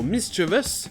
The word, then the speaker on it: mischievous: Et un bon moyen de se rappeler que le CH se prononce che, c'est de se dire que le mot mischievous vient du mot mischief.